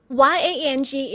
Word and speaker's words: yang: Y A N G is pronounced as Yang.